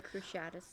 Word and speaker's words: Cruciatus: two we have the cruci Aris and or cruciatus I don't know the pronunciation that's right cruciatus um and then the avava